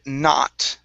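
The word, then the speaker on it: knot: is uh the word not Okay The K is silent The O is an A sound Not Not Okay Very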